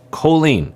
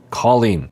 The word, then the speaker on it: Colleen: He keeps calling her Colleen, which it's not Colleen, it's Colleen.